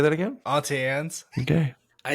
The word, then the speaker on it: Auntie Anne's: I've heard some people called it Auntie Annie's, and I'm like, that's not right. There's no I in That's there.